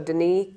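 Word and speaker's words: Denis: it's D N Ys the S is silent so it's the French pronunciation of Dennis so Deni cop cop p and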